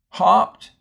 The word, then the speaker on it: hopped: got this right because notice the difference between hopped hopped and hoped and again the difference is is consonant closes this syllable and makes that oh short so that's a closed syllable and the O here's at the end of the syllable so we call that an open syllable and that will be the word hoped they look a lot